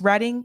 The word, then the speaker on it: Reading: Bill Russell's reading home by the way it's pronounced reading even though the spelling is reading it's pronounced reading here in Massachusetts leaving racial epithets in their